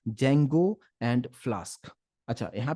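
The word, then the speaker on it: Django: कि हम कहते हैं जंगो एंड फल स्क अच्छा यहां पे डी जंगो नहीं है डी जो है साइलेंट है इस बात पे ध्यान दीजिएगा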